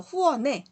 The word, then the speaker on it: 후원의: 에라는 발음을 허용한댔죠. 그래서 후원에 맞아요.